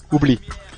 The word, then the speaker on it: oublie: Oublie. Forget. Oublie. Oublie? Ouais, just oublie. Oublie. How do you spell that?